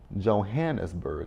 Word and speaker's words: Johannesburg: I was like, can y'all not pronounce Johannesburg? Johannesburg. I'm very easy.